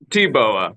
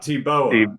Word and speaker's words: Teebowah: Teebowah. Like shooting a bow. Teebowah.